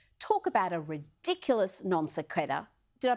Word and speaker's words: sequitur: Talk about a ridiculous non sequitur. Did I pronounce that right?